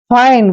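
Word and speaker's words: fine: बोलते हैं अब देखिए एफ आई एन ई एफ का उच्चारण हम क्या करते हैं फ और आई एन ई को क्या पढ़ रहे हैं यानी कि आइन फाइन फाइन मींस क्या होता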